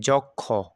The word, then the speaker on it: যক্ষ: যেমন দেখেন এই যে এই যে এই যে যক্ষ, ঠিক আছে, যক্ষ না বলে এটা কি হবে, যুক্ষ।